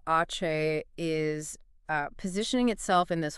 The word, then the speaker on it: Aceh: And by the way, it's pronounced Aceh, not at.